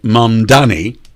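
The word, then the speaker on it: Mamdani: Uh and incidentally uh Mandani uh correct pronunciation uh is is not a commie he's a socialist.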